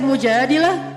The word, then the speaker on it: Mujadilah: Jadi tergantung kita bacanya dilah atau dalah. Kalau kita baca Mujadilah, berarti perempuan yang lagi curhat. Kalau kita baca Al-Mujadalah, berarti curhat itu sendiri.